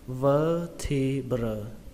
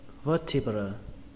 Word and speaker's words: vertebra: các bạn đọc là vertebra, vertebra, vertebra. Trọng âm của từ này rơi vào âm đầu tiên, âm vơ trong từ vơ đũa, vơ, vertebra, vertebra, vertebra.